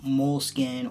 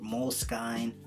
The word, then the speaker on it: Moleskine: I've had the Moleskine or Moleskine, however anyone wants to pronounce it.